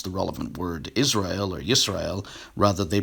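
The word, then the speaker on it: ישראל: The salient portion reads, quote, UPKers and proponents of Lashon Kodash claim that this word is pronounced Yashra'Allah. And then I show various renderings. The pointing in the Masoretic text implies Yisrael.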